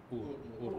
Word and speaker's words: Ur: So it's not just about Iraq, the recognition of Iraq or Ur, how do you pronounce the word? Ur, yeah.